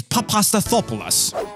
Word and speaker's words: Papastathopoulos: right and if you didn't get it it's papastathopoulos and if you speak german so is pronouncing the names of these two i've heard